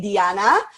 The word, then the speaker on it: Dijana: with pronounciating my name it's actually Deanna because I come from Balkans but you can go